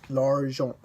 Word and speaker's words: argent: The consonants at the end of the word aren't usually pronounced. Consider these examples: l'argent, l'argent, vent, les fruits, les fruits.